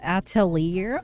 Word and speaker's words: Atelier: A Witch Hat Atelier.